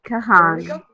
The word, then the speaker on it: Kahan: sure if I'm going to pronounce it properly, Kahan, I don't know, you will introduce yourself, and Brandon Colleran, whom I met, sorry, please. What is the pronunciation of your surname? No, it's okay. Kahan.